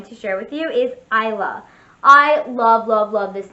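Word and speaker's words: Eila: use this name but i love the spelling e i l a it's like the way you would pronounce eileen isla the e i l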